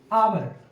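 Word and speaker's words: hour: क्या हो गया घंटा अब आवर में एच का उच्चारण क्या कर रहे हैं अ यह किस में आ रहा है तो यह आ रहा है स्वर वर्ण में इसमें क्या स्वर वर्ण इसलिए आवर के उच्चारण में अ आ रहा है तो यहां क्या बनाएंगे हम लोग एन आवर उम्मीद है कांसेप्ट आपको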